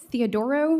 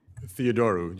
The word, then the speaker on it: Theodoru: Is it Theodoro or Theodoru? Theodoru, you said it right.